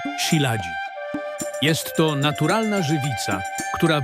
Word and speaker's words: Shilajit: Jak skała się poci, to zbierają ten shilat. Ma po prostu niesamowite właściwości zdrowotne. Także muszę to kupić. Prawidłowa wymowa to siladzi.